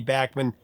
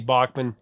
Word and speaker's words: Bachman: And I've talked to Randy about it and he said, "Yeah, of course it's Randy Bachman. Most people say Randy Bachmann. It's fine." Here, I'm going to say it right though.